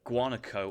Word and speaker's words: guanaco: My favorite animal is the guanaco on the Grand Chaco. That's an interesting animal to pronounce. Yeah. Sounds like guacamole.